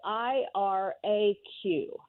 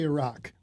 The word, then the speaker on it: Iraq: The word is spelled I-R-A-Q. Well, I say Iraq. I say Iraq.